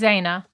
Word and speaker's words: Xana: It is Zaina. It's pronounced like a Z.